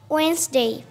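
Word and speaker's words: Wednesday: বলছি উডনেসডে would নেস ডে এখন কি বলবো ওয়েন্সডে এই যে স সাউন্ড কিন্তু আসতেছে এই স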